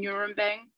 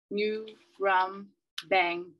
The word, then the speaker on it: Nurembang: I was born on Nurembang. Can you hear it? New, rum, bang. If you say it right, it hits the back of your mouth, and you should taste blood in your words.